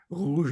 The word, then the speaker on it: rouge: And I remember having to go in front of the class and having to pronounce the R's, because they can't say rouge, for example, which is rouge or rien de rien.